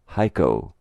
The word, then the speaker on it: Xico: The letters of the second syllable are CO pronounced co. Xico is pronounced Heiko.